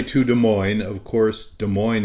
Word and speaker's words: Des Moines: Des Moines of course Des Moines is there because it rhymes with coin but also because Des